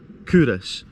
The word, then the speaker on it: Culross: just to again reiterate kurus pronounced kurus has been a royal